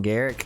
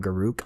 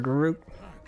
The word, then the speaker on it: Garruk: I know some people call him Garrick, so I'm like, I call him Garruk. I think that's how it's spelled. I don't know, but I prefer Garruk.